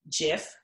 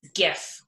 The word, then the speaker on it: GIF: this fun little jiff but it isn't jiff as you see jiff is like the peanut butter its gifts so anyone who typed G hard G gif so from Alex Chang who's the owner he says that's a giffy we know there's only one jiff and it's peanut butter and if you say gifts with hard G yes you're right so there you go